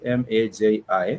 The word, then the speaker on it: maji: It has two syllables, maji.